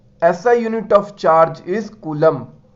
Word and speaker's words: Coulomb: ऐसा unit of charge is कूलम। कूलम का spelling देख लो, सब मिस्टेक करते हैं, COULOMB, कोलम।